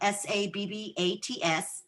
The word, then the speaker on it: sabbats: so those sabbats um s-a-b-b-a-t-s not like like Sabbath or foreign but sabbats it's our high holidays